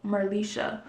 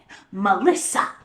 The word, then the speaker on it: Merlysha: I know exactly what she feel like because my name is pronounced merlysha. I got merlysha, Melissa, Martha. Like y'all not even.